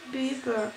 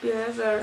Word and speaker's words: Bieber: Se pronuncia Bieber, no Bieber, analfabeto de mierda, ¿te acuerdas?